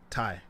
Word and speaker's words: Ty: Ty. Like tying your shoe. Awesome. Ty, thank you so much.